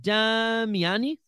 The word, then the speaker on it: Damiani: do you pronounce it damiani Leonardo damiani I mean that that's Italian right that that is an Italian name and I love it